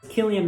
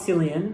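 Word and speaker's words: Cillian: it's such a clip Killian Murphy not selian I think I've pronounced his name selan for like my entire life Killian Murphy is amazing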